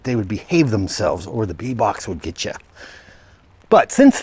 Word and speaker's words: Bebok: I would pronounce it Bebok, B-E-B-O-K, if I were to pronounce it, but here in Katowice, I believe it's pronounced Beboks. I don't know what the plural is.